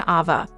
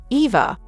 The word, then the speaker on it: Ava: This is supposed to be better than Ava, and Christina kept mispronouncing Ava's name as Eva, which was irritating.